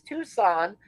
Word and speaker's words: Tucson: Yeah, it's Tucson. The C is silent."